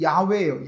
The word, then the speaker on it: 야훼: 우리 공동번역 성경에는 야훼라고 나와요. 그게 이제 히브리어식 발음입니다. 하나님이 야훼예요.